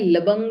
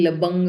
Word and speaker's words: लवंग: है लवंग मंजरी है एक्चुअली ब है लेकिन हम लोग उसको प्रोनाउंस ल व करते हैं बंगाली में व को ब बोलते हैं इसलिए ल बंग बोला है यहां पे हम लोग प्रोनाउंस करते लवंग मंजरी श्री रघुनाथ दास गोस्वामी